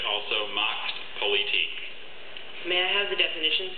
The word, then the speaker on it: Machtpolitik: Macht Politik. May I have the language of origin, please? German part plus a part that went from Greek to French to German.